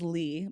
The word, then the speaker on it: Leigh: I was like, is it Lay or Lee? I always say it wrong because it's spelled like Ashley. Like, when someone's like, my name's Ashley. No, it's spelled like Lee.